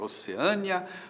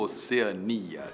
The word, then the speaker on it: Oceania: E agora, Oceânia ou Oceania? Tanto faz, tanto faz. As duas formas existem.